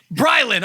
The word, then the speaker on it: Brilan: I know what your real name is but pronounce the Instagram name it's Rylan imagery BryLin okay I have Grill on stuck in my